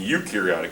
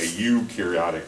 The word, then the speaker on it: eukaryotic: true and it's pronounced e u is pronounced you a eukaryotic or eukaryotes um and